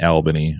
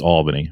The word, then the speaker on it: Albany: get more more for saying Alban II instead of pronouncing the Louise wrong but it's Albany but that's cool a lot of people do